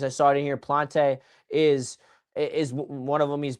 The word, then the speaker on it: Plant: I keep calling him Plante. I apologize. It's Plant.